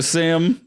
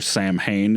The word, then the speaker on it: Samhain: yeah but uh so Sam of course the mascot of the film Sam is actually a reference to uh sa or Sam Hayne if you say it wrong but because that's how it's spelled but uh sa is